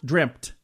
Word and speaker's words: dreamt: Dreamt. And there's no P in there, but I pronounce it that way. Dreamt. But it's dreamt.